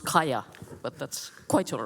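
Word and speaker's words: Kaja: It's actually pronounced Kaya, but that's quite all right.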